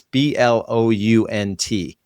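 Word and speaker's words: Jeb Blount: I think he pronounces it Blunt. It's Blount.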